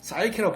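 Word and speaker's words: psyche: 이번에는 많이 들어보셨던 사이키란 말인데요. 사이키는 우리가 원래는 프시케에서 나왔죠. 그래서 로마 신화에 나오는데요. 노랑나비로 표시되잖아요. 프시케가. 근데 이게 P가 발음이 안 나오고 사이키라고 발음하는 거예요.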